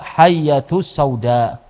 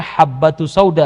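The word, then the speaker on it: الحبة السوداء: Subhanallah, sampai pada Nabi SAW tentang syifa, pengobatan, dia baca hayyatus sauda. Hayyah ini ular. Jadi tidak ada kesembuhan kecuali dengan madu, dan juga dia harusnya bacanya habbatus sauda, harus yang benar.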